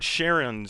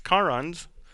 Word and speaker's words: Charon: It's also not Charon's Staircase, because this is out of the Greek mythology, which means it's pronounced with a hard K, so it is Charon's Staircase.